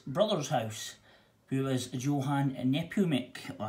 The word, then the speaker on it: Nepomuk: But then Georg and Maria sent young Alois away to Georg's brother's house, who was Johann Nepomuk. Or how do you pronounce that? Nepomuk.